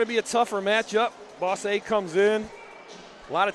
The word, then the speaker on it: Bosse: our matchup against Evansville Boss A. Now, I was mispronouncing it earlier. I think I called him Bose. I called him boss. I have been corrected. It is Boss.